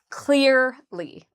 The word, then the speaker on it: clearly: So first of all, clear is the part we stress. So we say clearly.